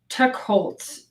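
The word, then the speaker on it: Teicholz: And then the third book I brought, I don't know how to pronounce her last name, Nina Techholz, T-E-I-C-H-O-L-Z, Techholz.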